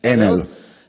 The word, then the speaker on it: Enel: Enel is, I think, in Italian we pronunciate it Enel.